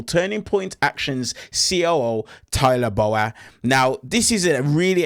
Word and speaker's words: Bowyer: It's It's Bowyer. It's Bowyer.